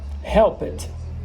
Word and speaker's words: helped: Vocês vão observar que quando terminar em ED, a pronúncia, tá vendo aqui, ó, vai ser com wanted, tá vendo? Helped. Como se, não vai ser um D, vai ser um T.